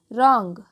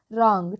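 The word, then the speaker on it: wrong: एन जी यहां देखिए यहां पर डब्लू जो है वह साइलेंट है हम इसका उच्चारण करते हैं रंग क्या करते हैं इसका उच्चारण रंग ठीक है यहां पर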